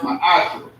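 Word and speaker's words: מעשר: Means tenth in the Hebrew and is pronounced ma'asher.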